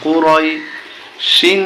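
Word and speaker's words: قريش: ইয়া জো জম রই কুরাই শিন দুই জের শিন কুরাইশিন কিন্তু আমরা যখন এখানে থেমে যাব তখন উচ্চারণটা হবে কুরাইশ লিলাফি কুরাইশ লিলাফি কুরাইশ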